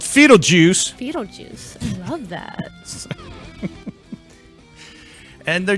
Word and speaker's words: Foetal Juice: FOETAL Juice. I love that. And they're just... Hey, if it rhymes with Beetlejuice, man, I'm all in.